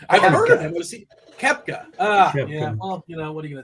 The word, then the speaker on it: Koepka: It's not Kopka. It's a Kupka. How do you say his name? I've heard of him. Kepka.